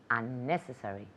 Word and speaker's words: unnecessary: ¿Habéis fijado dónde recae el énfasis en esta palabra? Porque hay varias sílabas. Unnecessary. Unnecessary. En la segunda sílaba.